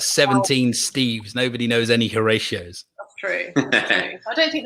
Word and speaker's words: Horatio: Horatio. I didn't actually. Did I say it right? You did. I'm just checking. Kieran, made a note of it. Yeah. Horatio.